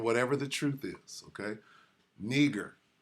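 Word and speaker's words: Νίγερ: the truth is okay neger that's how you say it strong G 3526 ner ner so if Niger means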